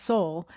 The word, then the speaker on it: Seoul: It's spelled a little differently, but it's still Seoul. It's pronounced Seoul.